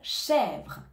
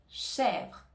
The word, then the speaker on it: chèvre: et enfin le mot chèvre chèvre ici on ne prononce pas le E à la fin du mot on a donc le